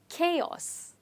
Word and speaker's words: chaos: because they don't have the sound CH which these two letters when they come together generally have but here the sound is c c which is chaos let's try it together chaos and the stress is on K chaos what is chaos